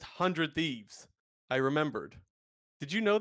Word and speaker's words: 100 Thieves: last week someone said we're not supposed to save 100 thieves it's just hundred thieves I remembered did you